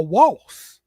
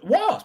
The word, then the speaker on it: wasp: Like, I called wasp a waltz. Yeah, it's a wasp. I don't know why. Yes, because it's pronounced wasp. It's a wasp.